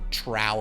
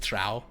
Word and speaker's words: Trow: old spellings and stuff, it actually is spelled like DTROW, so it's like Trow, or however the Scottish people say stuff.